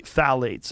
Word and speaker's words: phthalates: the introduction of phthalates it starts with a p p t h a l a t EES I think it's how you spell it you say phthalates and phthalates are a